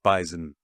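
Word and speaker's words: bison: that is called the bisen it is does have a z I agree with the it's got a z z it's it's a z that well it's not a silent Z it's just an invisible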